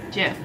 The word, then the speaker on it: GIF: gift oh my gif i think it's supposed to be jeff properly pronounced jif um anyway i actually